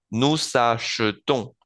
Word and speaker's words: nous achetons: Bien, vuelvo a no pronunciar esa E o a pronunciarla como en francés. Nous achetons, nous achetons.